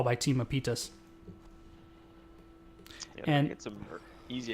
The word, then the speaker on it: Mapitas: An excellent macro decision coming out from Mapitas, as I pronounced that correctly.